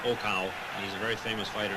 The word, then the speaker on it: Okao: problem with him but I understand he's pronounced Oka he's a very famous